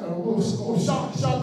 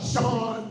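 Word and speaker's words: Shad: And for the record, it is Shaq Khan, not Sean, like y'all been pronouncing.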